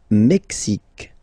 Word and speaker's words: Mexique: Le Mexique. Le Mexique. Mexique. It's really the X. Huh? Le Mexique. And then remember this QUE, it's only K.